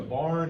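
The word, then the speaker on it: Byron: There's a barn in Fulton County. It's spelled B-Y-R-O-N.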